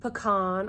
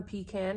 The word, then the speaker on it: Pecan: And she has another shade in the line called Pecan or Pecan, however you prefer to pronounce that word.